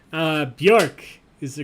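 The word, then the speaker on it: Björk: all right everybody's in rhymes with dork uh bjork is the correct answer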